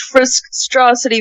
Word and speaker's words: Friskstrocity: mean go fruit also my name is pronounced frisk straw city va if i didn't um